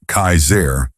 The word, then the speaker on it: Kasar: One man in particular who called himself Kasar, pronounced Kaizair, was especially dangerous.